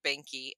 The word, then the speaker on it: Behnke: me that we're saying the word banky and maybe everybody is not familiar it's spelled b-e-h-n-k-e so obviously german and german spelling and i'm gonna